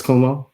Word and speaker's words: Cuomo: Chris Cuomo.